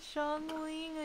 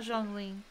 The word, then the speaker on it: Zhongli: Zhongli, we're gonna meet Zhongling again. Zhongli, not Zhongling. I said that name wrong.